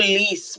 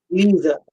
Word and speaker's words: Lise: I called you Lise, but I don't think that's how you pronounce it. It's It's fine, but it's Lise. Lisa.